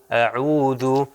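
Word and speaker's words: أعوذ: اس کو لمبا کر دیں گے عو، اعو، اعوذ، اعوذ۔ اب دیکھیں ہم جب قرآن کی تلاوت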